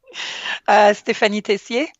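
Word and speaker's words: Stéphanie Tessier: I'm here with Ste phanie Tessier. Am I pronouncing that correctly? That's perfect. You pronounce it. Ste phanie Tessier.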